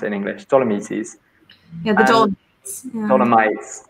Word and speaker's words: Dolomites: And she wanted to go for a walk in the Dolomites, is that how you pronounce it in English? Dolomites.